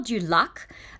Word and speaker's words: du Lac: um I also like the hotel Dak um which is how you would pronounce it in in French um you have that